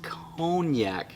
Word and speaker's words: konjac: But I had this wonderful comment from an awesome YouTuber where he says, Brother David, Konjac is pronounced cognac. Is that right? Cognac? C-O-N-E-Y-A-K? Cognac? Cognac? Cognac. Like the liquor.